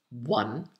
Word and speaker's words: one: So one, wa, one, own, and owl. And loan, which rhymes with own.